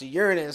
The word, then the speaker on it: Uranus: fourth largest moon of Uranus sometimes pronounced Uranus by those astronomy nerds discovered in October 1851